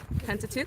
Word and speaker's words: Pentateuch: How do you pronounce it? Pentateuch? Pentateuch, thank you.